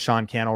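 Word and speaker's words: Sean Cannell: you liked and shared my name is Sean Kel rhymes with YouTube channel appreciate you can't wait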